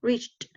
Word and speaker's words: reached: When you get the ch sound, you finish with a T sound, reached, okay?